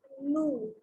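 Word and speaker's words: nous: We do not pronounce the S.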